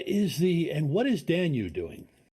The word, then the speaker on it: Danu: is dan you doing did i say that right who i'm not sure if i said it right so okay what is khazer doing it's danu the uh irish goddess of the earth that's probably where i've